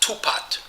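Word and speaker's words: 吐蕃: that, we know that this Tufa name would have been pronounced Tupat. The Fa would have been pronounced something like Pat or Pat.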